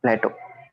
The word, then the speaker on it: plateau: Plateau Plateau Greek philosopher Plateau Plato Plato Plato yeah yeah PL this is plateau like that in plate this is Plato like